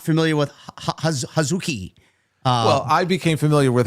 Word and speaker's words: Hazuki: Well, it's pronounced Hazuki.